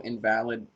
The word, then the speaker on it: invalid: as you may know invalid when pronounced invalid is a is a another um rather derogatory term used for disability limitations live only